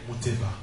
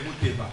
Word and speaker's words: Muteba: Son père, c'est le pasteur Peter Muteba. Amen. Amen. Souvent nous disons Peter Muteba, n'est-ce pas? Ouais. Non, en vérité, on doit dire Peter Muteba. Amen. Amen. C'est ça qu'on doit dire.